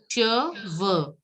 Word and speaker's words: cheveux: Cheveux. Cheveux. Cheveux. CH is pronounced as sh. So cheveux.